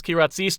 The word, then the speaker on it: Kyratzes: please welcome back to the program joining us ki razies am i getting any better at pronouncing your name yes that was very good